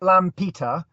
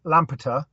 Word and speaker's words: Lampeter: So you're in Lampeter. Did I pronounce that correctly? Yeah, if you pronounce it Lampeter and then say it quickly, Lampeter, that would work.